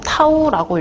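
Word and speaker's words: τ: 이렇게 기호로는 이렇게 쓰고 타우라고 읽어요.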